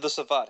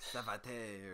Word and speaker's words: Savate: What is the proper pronunciation? Yeah, I think that's right, Savat. That's what we say in the office. Okay. Why are you questioning me? No, that's not how I said it. I thought it was like Savate or something. I don't know. Something. No, Savat. Mispronouncing it.